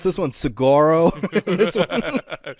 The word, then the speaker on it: Saguaro: I pronounce this one Saguaro. This one. You go to the east, it's Saguaro National Park. It's Saguaro in the west. You get rid of those G's and put those dubs in.